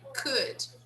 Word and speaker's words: could: Could. We don't pronounce the L, right? We say could.